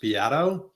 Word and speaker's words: Beato: our pre-con conversation that my last name is pronounced Bato oh Bato just for